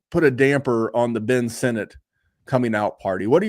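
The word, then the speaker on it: Ben Sinnott: guy yeah now we used to call him Ben sinat that's not how it's you know pronounced it's Ben Senate um but Zack hers who's literally the same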